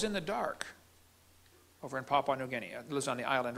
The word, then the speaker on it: Papua New Guinea: indonesia or in venezuela why is he pronouncing these incorrectly papa new guinea it's papua new guinea and it's not venezuela